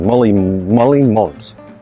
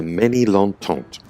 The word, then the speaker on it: Ménilmontant: In between Canal Saint-Martin and Boulevard Molly-Mont. I really don't think I pronounced that correctly. I'll just go and check. Nope, apparently it's Boulevard de Ménilmontant.